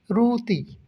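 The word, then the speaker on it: roti: Malaysian ভাষায় বলা হচ্ছে রুতি রুতি রুটিকে ওরা ট এর উচ্চারণটি না বলে ওরা ত এর উচ্চারণ করে মনে রাখবেন সব ধরনের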